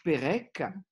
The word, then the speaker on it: Perec: Uno dei più grandi scrittori francesi del Novecento è un ebreo francese di origine polacca, Georges Perec, che in verità si chiamava Perec, non Perec ma Perec. Ma quando si scrive in polacco il suo nome Perec, si scrive P-E-R-E-C, nome che i francesi pronunciano Perec.